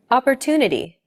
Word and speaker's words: opportunity: your moisturizer two an opportunity is deemed more important so it's pronounced longer than all other syllables listen to it again opportunity this gives English a